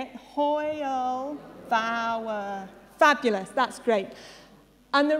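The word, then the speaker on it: hwyl fawr: caden will take over so this word is hoyle vower we've got the lovely pronunciations underneath if you uh don't don't quite understand so let's see if we can all say it hoyle vower fabulous that's great and the reason i'm starting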